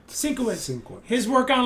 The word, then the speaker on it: Sienkiewicz: Bill Skinifowitz, how do you pronounce Bill it? Sienkiewicz. Sienkiewicz.